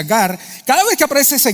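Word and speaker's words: γάρ: Cuando él en el griego usa porque, esa palabrita gar, en griego se pronuncia gar.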